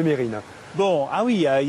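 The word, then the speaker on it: Mesrine: Je vois qu'on garde bien l'habitude aussi de toujours prononcer Messrine au lieu de Mérine.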